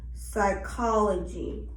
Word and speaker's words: psychology: then we have um p is usually silent when followed by s psychology psychology t or n at